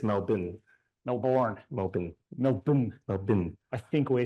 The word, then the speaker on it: Melbourne: we live Melbourne not Melbourne it's melbour Melbourne melbin melb melb I think we're saying it wrong